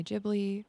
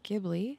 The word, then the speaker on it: Ghibli: cozy little tour of my jibli or gibli however you choose to pronounce it inspired home for this